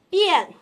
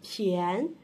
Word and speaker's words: 便: 你们知道这个字还有一个读音吗？它念便，便宜的便。